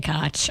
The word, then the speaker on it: Koch: We're going to spell it so it looks like it's one way, but we're going to pronounce it another just to throw everybody off. Okay, Koch.